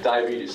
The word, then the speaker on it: diabetes: and um um diabetes diabetes thank you four syllables any other great diseases